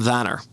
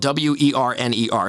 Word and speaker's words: Werner: uh heat goaltender adam vanner now you look at his name and it's spelled w-e-r-n-e-r so any americans like oh that's adam werner you know but that's not it he's swedish right so um it's it's